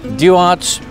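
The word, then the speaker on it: Duarte: we are Pescadero Pescadero do arts they make the best today how would you know Tim do want good to see you semi announce it yeah do art with a silent e what's unique about this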